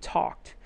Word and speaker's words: talked: the other one there that's the ed sound for talked and that one sounds like a t she talked me into it right she talked me into getting this massage so it sounds like t-a-k-t talked now how did that